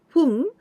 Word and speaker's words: 粉: This is why we pronounce this whole kanji fun.